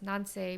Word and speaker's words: Nanse: saying my name because it's Nancy, which sounds like Nancy. And there was like a really famous uh, folklore about a spider called a Nancy. So, they used to call me Nancy.